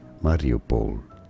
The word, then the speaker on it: Mariupol: in Ukraine variable please have what he said Mario Paul and now you know and now you know